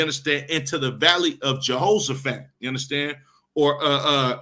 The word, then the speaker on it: Jehoshaphat: into the valley of Jehosaphat you understand or uh uh it's pronounced in the Hebrew yahasat you understand which means